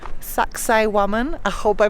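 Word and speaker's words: Sacsayhuamán: at a place called saxay woman I hope I pronounce it correctly it sounds a bit like sexy woman but of course it is not that's just how you can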